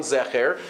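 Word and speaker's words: זכר: And if he wanted to tell us which is the correct version, if there were two versions, one Zeicher and one Zecher, he could have opened up a Chumash and told us, by the way, this word is Ka'anakim and not Ka'anakim.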